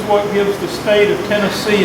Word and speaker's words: Tennessee: Now, if you're Cherokee, you call it Tanassi. Most people call it Tennessee. But if you are from Tennessee, the syllable you pronounce emphasis on is the first one, Tennessee. Nobody who is from Tennessee says Tennessee or Tanassi.